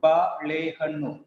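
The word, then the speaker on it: ಬಾಳೆಹಣ್ಣು: We give equal importance to prominence to all the syllables in Kannada.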